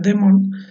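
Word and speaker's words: δαίμων: folklore y un demonio del griego damon que se pronuncia the moon causa sobrenatural descrito como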